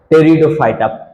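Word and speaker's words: Pteridophyta: टेरिडोफाइटा। पी को silent करना है। पी को क्या करना है? साइलेंट।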